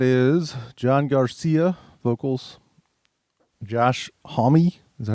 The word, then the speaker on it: Homme: But so this band is John Garcia, vocals, Josh Homme. Is that how you say it? I always pronounce the name wrong. Yeah. Homme, guitar.